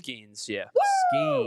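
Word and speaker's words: Skenes: on pronunciation? It's Skeens, yeah.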